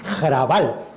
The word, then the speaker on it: Hrabal: Le dije, Javier Lostalé, he leído un tipo checo maravilloso que se llama Bohumil Hrabal. Digo, se pronuncia como Raval, pero con G, que era lo que me había dicho Trueba.